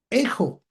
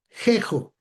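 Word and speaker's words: ἔχω: ¿Por qué no jejo? Bueno, porque lo que tenemos nosotros arriba de Ésilon es un espíritu suave y el espíritu suave no se pronuncia como J, ¿verdad? Se pronuncia solamente la vocal y tenemos un acento como el nuestro, ¿verdad?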